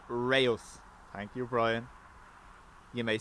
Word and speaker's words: Reus: We have Ryanair.exe from Rees, I don't know. Anyway, Copenhagen, Berlin, Southampton, Stansted, 319 Lufty from Munich, tap dance on the pillars, yeah? Still a tailwind. Hopefully they don't change runways. pronounce it Reus.